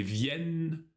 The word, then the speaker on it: viennent: Тут обращай внимание на последнюю форму. Как и для глагола tenir, это открытый звук. Ils viennent. Elles viennent.